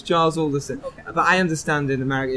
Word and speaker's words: Alderson: I'm cool with it I think I get Anderson all the time as well it's all distance it's Charles Alderson but I understand in America it's it's not